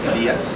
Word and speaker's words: Elias: Elias. Elias, is that what it's pronounced? Like the prophet.